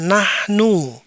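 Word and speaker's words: نحن: Ana baris kedua yang ini dibaca iya dibaca nahnu.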